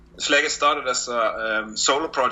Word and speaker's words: Slegest: Slegest?